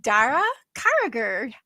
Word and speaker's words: Daire Carragher: from the green Emerald island of Ireland um Dar carer how did I do pronouncing your name darl welcome that was 10